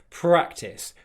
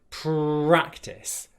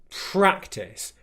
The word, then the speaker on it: practice: So I often hear it being pronounced practice, instead of practice. Okay? So the first thing to be aware of is to make sure that you're saying practice, a nice strong R sound without your tongue touching the roof of your mouth.